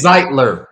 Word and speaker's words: Zeitler: idea of ragn now zeitler is it zeitler or zeeter because I've been saying zeiter this whole time zeitler is zeitler because I got kind of roasted in the comments for the way I pronounced his name zler I okay oh